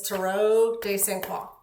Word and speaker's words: Tarot des Saint Croix: You know, it depends on who you ask how you pronounce it. The French way is Tarot des Saint Croix.